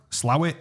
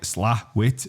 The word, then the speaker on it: Slaithwaite: locals pronounce it? You're a different level of Yorkshire. Yeah, look, Slowit, Slawit, SLA-wit, Slowit. It's never. It literally says, but never Slaithwaite. Well, it's Slaithwaite to me because I'm nowhere near as Yorkshire as you.